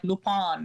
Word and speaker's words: Lupin: pronouncing it wrong lupine how do you pronounce it ramana because you know when i listen to them in french say it it just it's just like lupone or something so it's completely i call it loop in it but